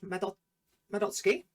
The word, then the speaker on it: Madotsuki: A lot of people get the name wrong because they sort of pronounce the U in their name, which I don't know too much about speaking Japanese, but I do know when SUKI is in a name, you drop the U.